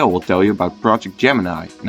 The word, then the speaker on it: Gemini: It is actually pronounced Gemini instead of Gemini.